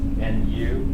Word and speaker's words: nu: This is nu. It's pronounced u. The opposite of old.